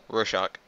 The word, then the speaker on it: Rorschach: I don't know how to pronounce it. Okay. Rorschach.